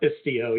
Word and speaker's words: Istio: and that's what the sorry, I can never pronounce this right. I'm going to make you do it, Ed, because it's Istio? Yep, Istio, yep.